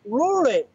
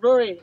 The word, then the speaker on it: Ruairidh: It's a Gaelic name, and from my understanding, it's actually Ruairidh. Yeah, exactly. I get Ruairidh a little over here, but Ruairidh is the name.